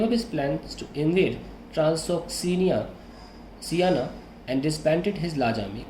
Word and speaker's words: Transoxiana: He then gave up his plans to invade Transoxiana and disbanded his large army. Kindly check the pronunciation of this word. Transoxiana.